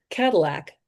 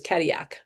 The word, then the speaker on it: Cadillac: So she had a beautiful car, an old Cadillac. She she with her French pronunciation, she thought it was Cadillia.